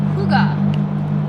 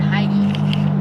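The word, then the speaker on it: hygge: it's eastern Easter what I read is it's pronounced Huga but it doesn't look like that at all because it's h y g g e or something like that yeah see I would have said hi that's what I said and then then I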